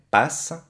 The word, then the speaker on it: passe: Par exemple, le verbe passer, conjugué, passe, la E final no se pronuncia, solamente se oye S, passe.